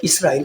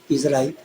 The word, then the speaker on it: اسرائیل: Request करना है कि इसको इसराइल प्रोनाउंस करें, इज़राइल न करें।